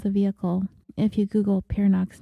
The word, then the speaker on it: Peernock: see pictures of the vehicle if you Google pio's name which is spelled p e e r n o c